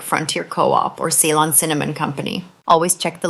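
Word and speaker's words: Ceylon: Salon cinnamon. I'll spell that out.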